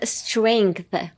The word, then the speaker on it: strength: So pronunciation, strength.